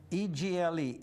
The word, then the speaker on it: Egle: I just met John Egle, E-G-L-E, Egle. He pronounces Egle.